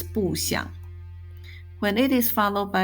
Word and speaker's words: 不想: When followed by a character with a third tone, 想, the phrase is pronounced as 不想.